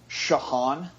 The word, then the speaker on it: Ciochon: Ciochon.